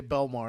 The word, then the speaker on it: Belmar: Uh, are we allowed to pronounce the W? No, no, we call we always say Belmar and then the next thing is down South Jersey.